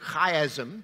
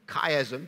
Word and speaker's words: chiasm: The word chiasm, or chiasm, depending on how you want to pronounce it, comes from the Greek word X, laid on its side.